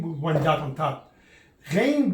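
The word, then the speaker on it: غين: Ghain basically is the way the French pronounce the letter R, like when they say France, la France. The letter R is Ghain, R. It's like you're gargling. When you gargle, that sound.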